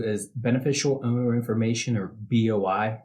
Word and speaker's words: BOI: beneficial owner information or Boi sometimes you'll hear that pronounced as boy so who's affected by